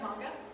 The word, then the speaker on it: manga: So is that similar to manga? Or is that the same as Barbara's? Manga, it's pronounced manga.